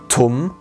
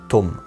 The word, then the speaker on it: tum: Das wird eben nicht tum ausgesprochen wie Turm im Deutschen, sondern tum.